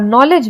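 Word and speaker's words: knowledge: आवर में H silent होता है और नॉलेज में K साइलेंट होता है।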